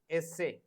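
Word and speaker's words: ese: s is a e s a y sorry essay the pronunciation of s is essay for example any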